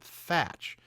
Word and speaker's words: Teach: i don't well ever it's spelled edward teach but everyone in this show pronounces it thatch so it's t-e-a-c-h but